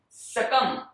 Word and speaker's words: succumb: हो, उसे कहते हैं succumb. B नहीं आता है.